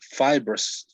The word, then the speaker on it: fibrous: First of all, it's fibrous. Okay. When you say fiber, you are saying that way. Okay. You're saying it that way. Fiber. So it is fibrous.